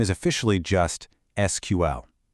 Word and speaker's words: SQL: And that language is SQL, which you'll almost always hear pronounced SQL. It was actually developed at IBM right after Dr.